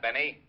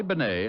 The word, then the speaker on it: Bennet: It's pronounced Bennet, not Benny.